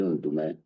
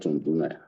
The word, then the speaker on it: Ndume: First and foremost, his name is Ali Ndume, not Ndume. Ali Ndume, just as Dino Melaye is the correct pronunciation, not Melaye.